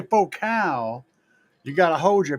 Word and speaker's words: Focal: Did I not say faux cow? Or are you trying to say faux cool? It's spelled focal, damn it. And you know what? If you're trying to create a focal point of sound, focal would work, right? It's faux cow because people want to be fancy.